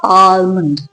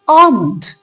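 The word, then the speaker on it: almond: इट्स नॉट आलमंड। Right? अगर आपको एल बोलना भी है तो बहुत ही कम स्ट्रेस दीजिए उसके ऊपर। उसको पूरा आलमंड मत पढ़िए। उसको पढ़िए आलमंड।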